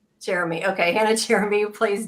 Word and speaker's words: Cheramy: How do I pronounce your last name so I say it right? Cheramy. Cheramy.